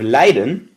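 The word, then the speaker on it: lijden: height and there's also words that sound exactly the same but look different at the different I for their meaning as the long I so you have Leiden with it with a long I which means to suffer and yet Leiden with a court I which means to lead that's the only difference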